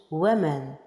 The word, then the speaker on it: women: à plusieurs d'entre nous en anglais américain cela se prononce women woman mais en anglais